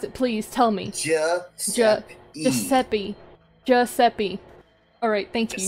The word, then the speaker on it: Giuseppe: 'Cause, You keep I'm not- calling him Gasapi. okay, how do you pronounce it? Please tell me. Giuseppe.